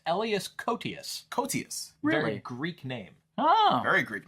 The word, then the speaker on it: Elias Koteas: Elias Cotier, which is what I thought his name was, but it's actually, I worked with him on an episode of House. It's pronounced Elias Koteas.